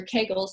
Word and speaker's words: Kegel: and up which why keegel or Kegel however you want to pronounce it are not as efficient